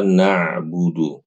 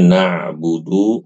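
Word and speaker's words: نَعْبُدُ: Ya, ini yang paling sering, Ibu-ibu, huruf ainnya itu diubah menjadi hamzah. Yang tadinya nabudu menjadi na'budu atau dilakukan kesalahan yang kedua diqalqalahkan. Iyyaka na'budu iyaka na'budu diqqalqalahkan. Ini keliru. Kalau mengganti dengan hamzah itu jadi salah yang fatal. Kalau mengqalqalahkan ain itu salah yang ringan.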